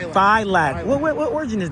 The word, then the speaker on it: Filak: F with a long I, L A K. Filak. Filak.